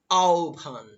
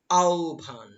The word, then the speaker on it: আহ্বান: শব্দটা দেখো আমরা তো জানি আহ্বান কিন্তু এটার আহ্বান না উচ্চারণ উচ্চারণ হচ্ছে আহ্বান উচ্চারণটা কি হবে আহ্বান হ্যাঁ আমার সাথে সাথে তোমরা বলতে পারো আহ্বান শব্দের উচ্চারণ হবে আওভান আওভান পরবর্তী শব্দটি লক্ষ্য করো রয়েছে আবৃত্তি এই আবৃত্তি